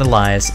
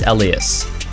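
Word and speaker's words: Elías: Romanus Elias the elas I've learned to pronounce his name it's not Elias it's Ellas 1.77 a 12 and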